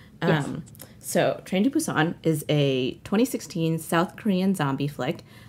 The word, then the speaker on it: Busan: Which I was pronouncing with a hard B for a long time until recently. I know, I was too. I was reading about it and I was like, oh, it's Train to Busan, correct?